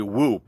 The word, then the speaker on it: WHOOP: whoop device and now I'm not pronouncing that wrong like yesterday's word it's actually whoop or WH o o